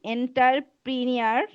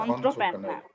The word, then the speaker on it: entrepreneur: Entrepreneur. অন্ত্রপেনা, প্রেনা বলা দরকার নাই, প্রেনা প্রেনা বলা দরকার নেই, অন্ত্রপেনা।